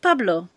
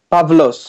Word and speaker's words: Pavlo: And um is your name Pablo or how? Pavlo. Pavlo. Pavlo. Yeah, exactly as it's spelled.